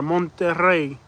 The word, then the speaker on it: Monterrey: Monterrey. Let me try. Monterrey. You gotta roll the R. Monterrey.